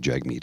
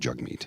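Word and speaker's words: Jagmeet: lazy and sloppy yeah he did say JZ meat Singh but I don't think that was I think he was struggling between Jag meat and jug meat and and mispronounce the name I think he was trying to say the correct name honestly but I could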